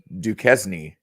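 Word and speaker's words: Duquesne: point it's Illinois versus duzn you know like it rhymes with Kenny Chesney Illinois versus I see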